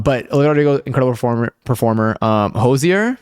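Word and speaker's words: Hozier: Um, Hosier, which I think is how we learned how to pronounce it on stream. We watched an interview with him and he said it sounded like Hosier, so that's how I'm going to say it.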